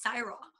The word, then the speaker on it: Saira: eye in it so my name is CRA so it's spelled like Sarah but there's an eye in the middle so I would interrupt